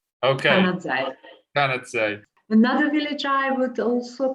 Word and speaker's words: Canazei: Val di Fassa, and the actual village name is Canazei, spelled with a Z. Okay. Canazei.